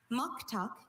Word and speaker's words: muktuk: Muktuk is the only pronunciation here.